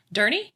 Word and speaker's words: Durney: here with a guest uh let's see durney did i pronounce that right yes excellent cool and uh